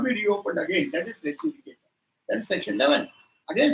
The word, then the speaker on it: res judicata: Section 11 of the CPC that talks about res judicata. RESJUDICATA. Res judicata. Most of us have got the habit of pronouncing it as one word. No. Res judicata.